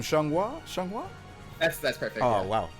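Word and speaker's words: Xianghua: we've got how do you say her name shanghua that's that's perfect oh wow i didn't i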